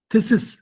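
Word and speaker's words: phthisis: टीबी रोगी को जब हो जाती तो वजन गिर जाएगा, डॉक्टरी भाषा में थीसिस क्या बोलते हैं, थीसिस, PHP तो साइलेंट होगा, PH साइलेंट होगा, थीसिस हो गए।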